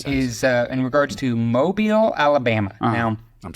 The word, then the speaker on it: Mobile: I'm second question is uh in regards to Mobile Alabama now I'm saying it wrong we all know it's mobile but uh if anybody's been watching the show